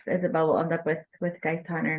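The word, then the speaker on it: Gaëtan: Gaetan. Gaitan. Gaetan, Gaetan. Gaetan. See what because I read it in Spanish like Gaitan. Como Gaetan. Gaetan. Mhm. Like Gaston, but without the S.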